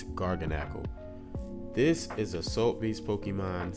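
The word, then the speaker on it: Garganacl: When you see it, you're probably not going to be able to pronounce it, but I just pronounced it for you. It's Gargonal.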